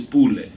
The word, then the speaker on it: Pule: Africa and tell them my name is Pule, they probably like, nah, it's Pule. And that's just, in actuality, that's just what it is. Different emphasis on a different syllable.